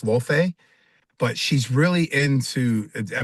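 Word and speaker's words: Laufey: I thought it was Lafy, but it's called pronounced Lof.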